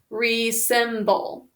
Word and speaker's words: resemble: Please write resemble. Remember, it's z.